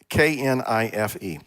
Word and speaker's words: knife: And anytime a question like that comes up, I always say pronounce the word Knife. Kniffy, yeah. Okay. Well, K, is that a silent letter?